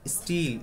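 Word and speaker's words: still: এসটিই এল স্টিল অথবা স্টিল এসটি I double L এই স্টিল এস এর সাথে যে টি থাকে এস এর সাথে যে টি থাকে এটা উচ্চারণ থ এর মত হবে না স্টিল হবে না সাধারণ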